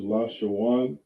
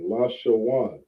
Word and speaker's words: Lashawan: You say lash, right? When you see an A-W-A-N, you say Awan, right? This is how you pronounce this word, Lashawan, all right?